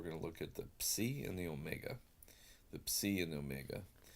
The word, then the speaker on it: psi: I want you to think as you pronounce this psi, psi, psi. Can you hear the English letter P and S? Psa, psa, psa. And that's how you'll pronounce it.